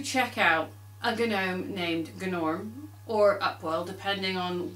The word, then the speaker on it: Gnorm: was a Dino named goo norm and you had to pronounce the G because well if he's a gnome and he says it's pronounced good norm and you know then